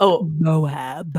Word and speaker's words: Moab: It's pronounced Moab.